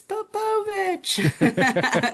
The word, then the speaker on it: Popovich: Yeah, If I know I'm going to be interacting a lot, then it's Popovich.